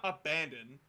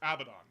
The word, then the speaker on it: Abaddon: personally pronounce Abaddon Abaddon it's not abandoned because there's no a there's no n after the a it's Abaddon Abid Dawn I just say it